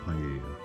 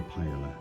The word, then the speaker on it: paella: instead of paella, and having lived in Spain, I can assure you it's pronounced paella, never paella, I should say.